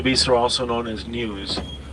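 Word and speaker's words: gnu: are also known as news because of the sound that they make written G and you pronounce new all right lots and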